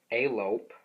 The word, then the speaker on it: Alope: shady uh the second thing uh was with alope that's how you pronounce the name uh they were having relations